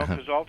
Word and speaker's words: Cazeault: Am I pronouncing it right? Cazalt. You are. No, Cazalt is correct.